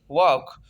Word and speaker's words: walk: एल जो है silent है, CAM काम। HALF, हाफ, आधा। HAF, half. WALK, वॉक, वॉक mean चलना।